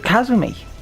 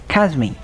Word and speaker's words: Kasumi: And we really looked at Kazumi. Why do I keep saying Kazumi? Kasumi. It isn't even Sumi, it's Kasum. It's Kasu. You don't pronounce the U. So it's Kazmi. It's Kazmi. It's not Kazumi.